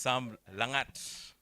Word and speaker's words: Sam Langat: She got the name right, actually. It's Sam Langat.